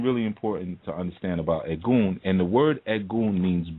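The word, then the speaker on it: Egun: right cool so we have what's called the egg goon and econ is spelled e g u n okay and the egg goon are your ancestral energies now it's something really important to understand about a goon and the word edgun means bone okay it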